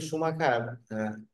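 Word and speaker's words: Schumacher: বি A Michael সুমাখার এটার বাংলা উচ্চারণ হচ্ছে বা এটার উচ্চারণ হচ্ছে সুমাখার মাইকেল সুমাখার কারণ বুঝা যাচ্ছে উনার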